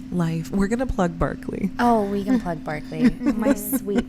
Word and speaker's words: Berkeley: berkeley and pronounced berkeley or spelled berkeley and pronounced the barkley like you should probably take that that sounds